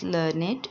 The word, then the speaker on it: learned: So learned means well educated, usually written as learned and pronounced with 2 syllables, learned.